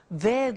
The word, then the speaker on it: they'd: Remember other examples they'd like to have dinner. They'd like to have dinner. So you see the pronunciation is not easy. They would becomes they'd okay.